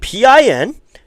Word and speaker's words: Pinckney: It's one of those names where you don't know if you want to pronounce the C and the K or if you just pronounce it as one.